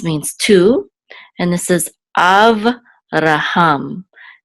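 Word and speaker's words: אַבְרָהָם: And this is Avraham. And this is the trope or accent mark on the last syllable, Avraham.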